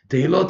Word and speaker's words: Tehillot: it's the Chida, that in the proper Hebrew it should be Tehillot. What's Tehillim? Tehillot is the proper way to say praises.